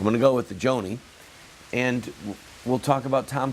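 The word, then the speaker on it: Joni: way I apologize because I mispronounced her name in a recent broadcast I heard somebody on Fox or CNN call her Johnny but I heard several people last I call her Joanie I'm going to go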